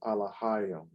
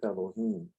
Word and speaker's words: Alahyim: Well, it's more than just Allah, it's Alahyim in Hebrew. All right. That's how you know that's the true way of saying his name, because the Arabs that have Islam say it, they have the correct syllables on the name. They say Allah, but it's really Alahyim. But in this English right here, it says Elohim.